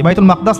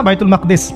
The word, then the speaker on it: বাইতুল মাকদিস: এটা কোথায় বাইতুল মাকদাদিস সরি বাইতুল মাকদাস না বায়তুল মাকদাদিস বিভিন্ন মানুষ বিভিন্ন উচ্চারণ করে এটা হচ্ছে প্যালেস্টাইন কোথায়